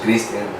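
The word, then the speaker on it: Cristian: But I say it like that because, usually people say like Christian, and that's like, no, it's not Christian, no H. So Christian.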